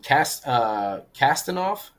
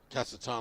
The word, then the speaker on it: Kasatonov: And Kastanov? Kasatonov.